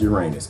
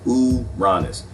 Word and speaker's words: Uranus: uranus it's uranus people it's not pronounced uranus it's pronounced uranus all right who got